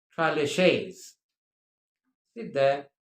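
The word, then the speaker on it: tres leches: It is TRES, as you can see on your screen, LECHES, LECHES, but the Spanish dish is pronounced traleches.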